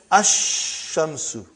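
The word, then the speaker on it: الشمس: And then ash-shamsu.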